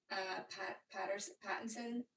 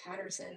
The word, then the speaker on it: Pattinson: The Drama, which is that movie with Robert Pattinson. I can never say his name. I was going to call him Robert Patterson.